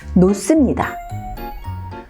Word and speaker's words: 놓습니다: 그리고 받침 발음에 히읗이 있고 그 다음 발음이 시옷으로 시작되는 경우에는 이 시옷이 쌍시옷으로 발음되는 경우가 있습니다. 예를 들면 놓습니다. 놓습니다가 아니라 놓습니다. 많습니다.